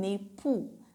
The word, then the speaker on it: époux: And the same case for my husband, mon époux. X is at last, that is silent, right? Let's repeat together.